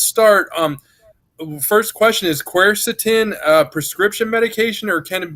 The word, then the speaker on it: quercetin: know I've heard that you actually pronounced the right quercetin and I used to call it cursed eaten but Oh nobody ever